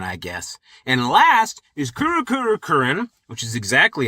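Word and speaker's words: Kurukuru Kururin: And last is Kurukurukurin, which is exactly how you pronounce it.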